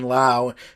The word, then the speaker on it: Lowe: Things can change, but imagine if someone like Brandon Lau, and I know it's spelled Lowe like Rob Lowe, but I think he pronounces it Lau.